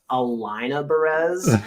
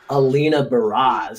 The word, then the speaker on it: Alina Baraz: was i i did not know how to pronounce her name for the longest time i thought it was alaina perez but then like i heard like i so